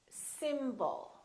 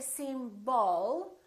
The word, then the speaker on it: symbol: We have two syllables. The first syllable is stressed, and the second syllable is reduced. When we have a reduced vowel, we don't pronounce it fully. We don't say symbol. We reduce it and we pronounce it as a.